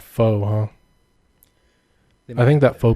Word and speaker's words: pho: pronounce It's it. pho. Pho. Yeah, Bart taught me that. It's pho.